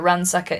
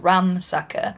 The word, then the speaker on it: Ransacker: Visalia Ransacker. Also, East Bay rapist. First time I found out that Ransacker is not Ramsacker.